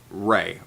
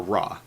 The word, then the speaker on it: Ra: place for the sun-god ray or raw doesn't really matter how you pronounce it it works it's your you'll see it either are e or ra in a lot in most most cases it doesn't really matter it's the same God regardless so what however you'd like to pronounce it is acceptable nut meanwhile was the